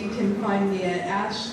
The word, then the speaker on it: Aesh: You can find me at Ash the Band. It is spelled AESH.